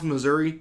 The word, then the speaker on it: Missouri: Sunday apparently there are people from Missouri pronounce Missouri Missouri yeah I didn't know that